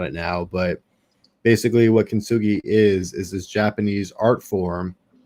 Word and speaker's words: Kintsugi: Kintsugi, yeah.